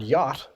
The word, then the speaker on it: yacht: movements and for example if you think about the word yacht and how it's spelled why ACH D it's not spelled how it sounds so when we look